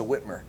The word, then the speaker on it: Whitmer: I'm one of your hosts here, and sitting in for Jackie Hager, if you're just now joining us, is Whitmer.